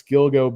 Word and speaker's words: Gilgo: It's Gilgo Beach. Rhymes with dildo.